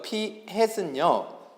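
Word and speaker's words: p-hat: 그래서 모자가 햇이어서 이거를 피햇이라고 읽고요. 알겠어요? 그래서 피햇은요, 내가 표본의 전체 개수 n개 중에서 안경을 낀 학생의 수 이렇게 구한다고.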